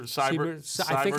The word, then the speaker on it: Seibert: Seibert, I think is how you say it. It's Seibert. Yes. Seibert.